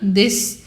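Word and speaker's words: です: Você vai falar Watashi wa nanana desu. Watashi wa nanana desu. Esse desu, ele também é pronunciado como se não tivesse o u.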